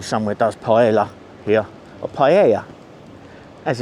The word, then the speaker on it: paella: Go and see if we can find a little cafe cuz I did see somewhere does paella here or paella as it's pronounced over here.